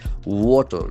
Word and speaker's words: water: Water, W-A-T-E-R. The letter A has got O sound.